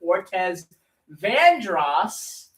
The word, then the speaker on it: Ortez Vandros: Uh stay tuned after our program for Pastor Ortez Vandros. I'm now saying that name correctly. I was saying that name wrong for like four years.